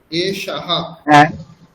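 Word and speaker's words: এষঃ: আমরা প্রথম রোটা করছি এশাহা বিসর্গের উচ্চারণ হ এর মত হবে তাই না এশাহা এশা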